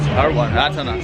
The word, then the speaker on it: Atanas: Atanas.